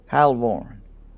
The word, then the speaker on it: Halvoran: Halvoran. Halvoran is how it's pronounced.